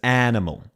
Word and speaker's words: animal: She says animal. Animal. It is flat. We do not emphasize the a. That is one of that's one of the vowels. That's a really good tail. Aussies would not ever emphasize animal. We go animal. It is very flat. There is no emphasis.